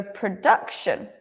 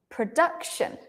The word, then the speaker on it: production: you remember that um with these words that end in shun the stress is on the one before shun so production production and number eight Co very